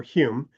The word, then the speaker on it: Home: Daniel Douglas Holm or Hume is the actual pronunciation of his name spelled home h o m e in the in the